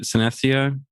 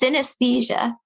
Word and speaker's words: synesthesia: your case was it synessia where you see senses in different ways what is that and how do you deal with it it's synesthesia so yeah you might say it wrong it's most common in